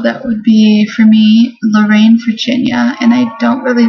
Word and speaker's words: Lorraine: There are very few names that are two syllables and the emphasis falls on the second syllable. And Lorraine is one of them.